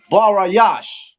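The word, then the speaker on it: בראשית: For time's sake, is Barayash. Barayash. And it's spelled Barayash.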